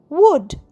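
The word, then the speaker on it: would: তোমার প্রতিদিন পড়া উচিত ডবলিউ ইউ এলডি উড মানে করতাম আই উড গো ইফ আই হড time সময় থাকলে আমি যেতাম এলটা কিন্তু সাইলেন্ট নেক্স ওয়াই ওই কিন্তু নয় ইক মানে হল ডিমের কুসুম অফ এগ ইয়েলো।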